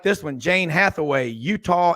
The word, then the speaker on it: Eutaw: Here's another one from, I like this one, Jane Hathaway, Utah, Alabama. That's spelled EUTAW over in Greene County in the Black Belt.